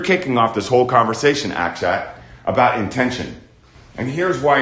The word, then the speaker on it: Akshat: Akshat. A-K-S-H-A-T, Akshat.